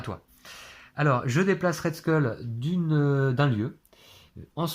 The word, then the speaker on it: Skull: de nos spectateurs de m'avoir aidé sur la prononciation de ce col oui on dit parce qu luz cool on dit plutôt skull effectivement alors je ne me rappelle pas son